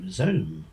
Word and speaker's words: zome: Apparently, they tell us, it uses the Z from zero and rhymes with home, so zome.